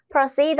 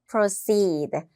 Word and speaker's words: proceed: proceed 하면 진행하다라는 뜻이어서 뭔가를 앞으로 계속 끌고 가는 느낌 생각해 주시면 되겠고요. proceed. 장모음이 있으니까 발음할 때 입을 길게 한번 해볼게요. proceed.